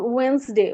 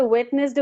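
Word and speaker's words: Wednesday: তখন দেখি যে হয়তো হচ্ছে বড় একটা ওয়ার্ডে, যেমন ওয়েন্সডে, ওয়েন্সডে কে সে ওয়েটনেসডে বলতেছে।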